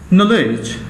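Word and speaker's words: knowledge: নলেজ, জ্ঞান, আমরা কে সিরিয়ালে চলে গেছি, নলেজ যদি কে দিয়ে শুরু, কিন্তু কেটা উচ্চারণ হয় না, নলেজ, জ্ঞান, ইগনোরেন্স, অজ্ঞতা।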